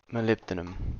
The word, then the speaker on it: molybdenum: damn oh greek uh whoops how do you say molly b denim molybdenum cool uh i didn't know that